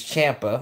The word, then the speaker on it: Ciampa: to say his name apparently it's Champa I've been saying his name wrong this entire time my goodness but Tomaso